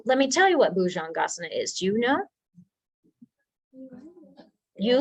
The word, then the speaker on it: bhujangasana: Cambio sequence yes and try to soften the j a little bit so boujongasana uh-huh the next one oh let me tell you what bhujangasana is do you know